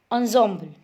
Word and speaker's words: ensemble: इन the past the shehnai was part of नौबत और traditional एनजेम्बल ऑफ 9 instruments found at royal courts. Okay, एनजेम्बल्स means सी, इसको हम पढ़ेंगे ensemble। ensemble इसकी pronunciation दी हुई है ensemble, things here instruments considered as a group.